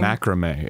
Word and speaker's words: macramé: Macrame is how you say it. Yes, macrame.